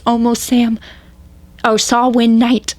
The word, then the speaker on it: Samhain: It's almost Oh, Samhain Night. Samhain Night. I know, it's spelled Sam Hay and it's throwing me off.